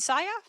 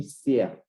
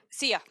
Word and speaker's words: Sia: So it'll be Anna, Ammar, Larissa, Amma, and how do you pronounce, is it Saya? Yeah, you can address me, Sia. Sia, perfect. Yeah. Just so I get it right. Sia.